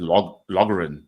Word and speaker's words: Loughran: I said Loughran. I got the whole G and an H because where I'm from, we pronounce that shit.